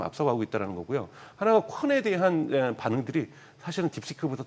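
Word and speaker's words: Qwen: 하나가 콘에 대한 반응들이 사실은 딥시크보다 더 좋습니다. 콘 같은 경우도 딥시크하고 저거 어떻게 읽으라고요? 콘이라고 읽을 겁니다.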